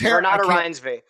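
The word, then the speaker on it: Renate Reinsve: Renee, I can't pronounce her last name. Renate Renata Reinsve.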